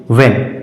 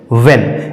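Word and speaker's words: when: व्ट उसी तरह से वेन डब्लू एच ई एन वेन इसमें भी एच का उच्चारण नहीं हो रहा है इसमें भी एच साइलेंट है क्यों क्योंकि डब्लू के बाद एच आया है तो इसका सही उच्चारण हो जाएगा वेन उसी तरह से च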